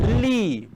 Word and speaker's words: Li: Pode falar, agora a pronúncia correta, pode falar só li, pronto, vou falar só li, tá?